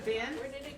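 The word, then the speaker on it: Binh: so we call him Dr. Ben, And, but it's spelled B-I-N-H.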